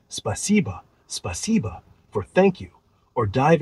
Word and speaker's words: спасибо: How's your pronunciation feeling? Want to add a few more phrases like спасибо, spasiba for thank you, or dive into the Russian alphabet to get the sounds down?